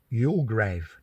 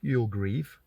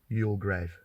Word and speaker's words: Youlgrave: great again right offski you grave not you grieve although it is often spelled g r e a v e but I think however it's spelled it's pronounced y grave at least I think